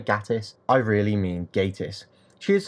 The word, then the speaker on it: Gatiss: Mark Gatiss was originally opposed to having Charles Dickens as the star of the episode, but changed his mind.